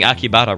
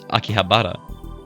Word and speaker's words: Akihabara: You know, I realized I was pronouncing Akibara wrong this entire time. It's not Akibara, it's Akihabara. There's an H in there, I just completely skipped pronouncing.